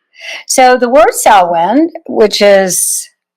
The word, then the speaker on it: Samhain: Anyways, so the word sin, which is pronounced like sa, like a sa s o wen sin, female pig.